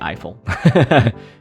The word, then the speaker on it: Ifill: it was Gwen Gwen e Phil it's actually Eiffel Gwen Eiffel uh but there's also Cheryl and